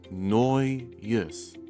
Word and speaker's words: Nojus: And combining that, these two words will be noyus. Noyus. And there you have it. If you did pronounce that name correctly, then good for you.